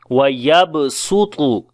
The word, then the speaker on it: وَيَبْسُطُ: So if you find this place in the Quran, so you will read with the seen there, as we say وَيَبْسُطُ وَيَبْسُطُ.